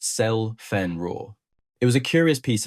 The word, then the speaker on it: Zielfernrohr: Zielfernrohr 41 in German, pronounced Zell-Fernrohr.